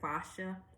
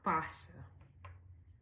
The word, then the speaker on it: fascia: She would say we need to look at fascia. Fascia. That's how you say it.